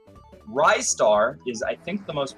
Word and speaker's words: Ristar: I've heard it pronounced wrists are ristar is I think the most popular one people say it's ristar because the tagline is catch a rising star and that makes sense